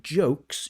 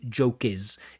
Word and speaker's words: jokes: So instead of saying words, you say word is. Instead of saying jokes, you say joke is.